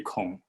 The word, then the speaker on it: 孔: first that the uh her surname is actually kong the same as the confucius although his spelling is